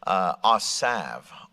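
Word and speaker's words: עזב: The Hebrew word is pronounced, at least as the way my computer tells me, asav. Asav. You could spell it A-S-A-V.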